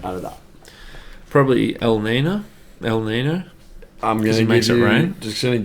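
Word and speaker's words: Niño: But that little squiggle on top of the N, it's a nya.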